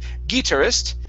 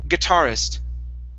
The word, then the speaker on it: guitarist: And our last one here is guitarist. So our stress is right here. Instead of guitarist, it's guitarist. Guitarist.